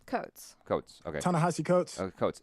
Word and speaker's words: Coates: Coates.